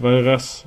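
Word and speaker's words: Walras: Pronounced Valras, okay.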